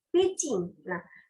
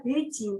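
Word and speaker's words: 北京: nama ibukotanya oleh ibukota rakyat Tiongkok itu adalah packing Bukan dibaca biji happy by yang mana Bi itu dibaca P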